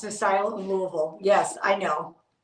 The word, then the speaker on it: Louisville: Louisville yes I know I do not say Lewisville who says that anyway who would even say that like that at this point Louisville you's got to have Laz lazy mouth to say Louisville um I'm I really